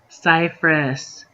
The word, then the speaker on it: Cyprus: down the list is Cyprus Cypress don't put a pee in it keep the pee out of Cyprus um the Drake City